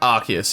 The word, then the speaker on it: Arceus: Arceus.